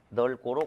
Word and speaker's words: 넓고: 자 그래서 그대로 1번 넓고는 넓고로 발음하면 안 되죠 리을 비읍은 리을로 자 그래서 발음을 널 고로 고쳐준다 이렇게 넓고 리을 비읍은 리얼로 발음한다 자 2번 담고죠 리을비음은